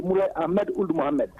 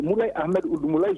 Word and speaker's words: Moulay Ahmed Ould Moulay: Mais encore une fois, Radio Tamani, vous ne prononcez pas mon nom comme cela se doit. Vous parlez toujours de Moulay Ahmed Ould Mohamed. C'est Moulay Ahmed Ould Moulay, je tiens à le préciser.